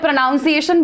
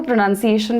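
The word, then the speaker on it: pronunciation: वो मॉडर्न बोलती थी मैं प्रोनाउंस एशन बोलती थी वो प्रोनंसिएशन बोलती थी द पॉइंट इज आप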